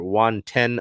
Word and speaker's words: Juan Ten: So it is spelled Juan, T-H-E-N, but it is pronounced like the number 10. So Juan Ten. If you don't know, Juan